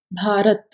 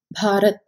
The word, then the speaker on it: Bharat: India in Telugu is known as Bharat. B-H-A-A-R-A-T-H, Bharat.